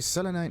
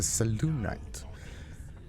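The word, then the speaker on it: Selûnite: Oh, it's not a selenite, it's a Selunite. Pronunciation on the U part of it.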